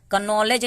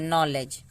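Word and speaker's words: knowledge: इसको पढ़ते हैं नी, कनी नहीं पढ़ते हैं, कनॉलेज नहीं पढ़ते हैं, नॉलेज, नॉलेज।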